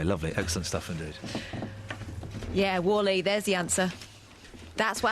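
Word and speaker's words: WALL-E: no Wally what w well yeah but it's pronounced Wally why would you call a film w e that's not like that doesn't sound like a name you pronounce it Wally no no no cuz thought like the whole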